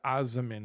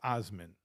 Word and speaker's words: amen: Oh, you're saying why did I say the aamin and not the amen? Amin. Aamin. Aamin. Okay. Yeah. You're saying I'm pronouncing the kataash.